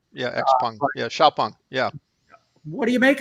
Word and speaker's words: XPeng: Volkswagen is investing in, I think it's pronounced Xpeng. It looks like XPeng. Yeah, XPeng. Yeah, Xiaopeng.